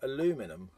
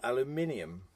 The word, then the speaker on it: aluminium: mistranslated and forever now pronounce and spelt in America aluminum instead of aluminium that's a little-known fact